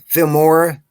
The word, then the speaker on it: Filmora: you're using harvey again filmora it's like the word film with ora at the end of it okay okay